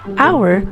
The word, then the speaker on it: hour: But think for a moment about the sound that the word hour makes. It is actually pronounced like the possessive pronoun our, which starts with the O vowel sound.